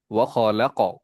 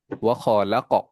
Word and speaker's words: وخلق: তাহলে এই 5টা হরফ যখন আসবে তখন আমরা অক্ষরগুলোকে একটু বাউন্স করে পড়বো, স্বাভাবিক থেকে একটু ধাক্কা দিয়ে পড়বো। কিভাবে বলবো এখানে উচ্চারণ করার সময়? ওয়া খালাক। উচ্চারণটা কেমন হবে ইসাম? وخلق ওয়া খালাক, বলো।